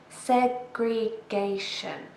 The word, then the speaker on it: segregation: Another long word, segregation. Segregation. 4 syllables. And this time we stress the third syllable.